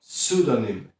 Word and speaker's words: pseudonym: Dalej mamy słówko pseudonym. Pseudonym, powtórz. Bardzo dobrze. Pseudonym, czyli pseudonim. Zwróć uwagę, że te pierwsze PS wymawiamy jako sy. W zasadzie nie czytamy tego P. Pseudonym.